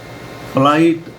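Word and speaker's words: flight: फ्लाइट माना उड़ान।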